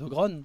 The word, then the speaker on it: ogrons: dit les gronnes mais on dit les ogrons alors que bah en fait c'est les ogronnes du coup mais bon après vous prononcez comme vous voulez encore une fois pas